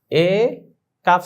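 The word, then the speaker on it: ایک: ইয়েের এ হামজা ইয়েজের এ calf সাকিন এক এটা কিন্তু ইক হবে না আমরা মনে হয় যে এটা উচ্চারণ করি ভালো লাগে আমাদের কাছে হামজা ইজের ই না এটা ভুল হবে এক হবে।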